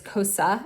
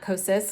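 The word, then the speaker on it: Kosas: and I guess it's cosa and not kosis because apparently the S is silent but I think the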